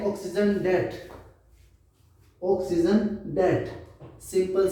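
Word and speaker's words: debt: B silent है, only date.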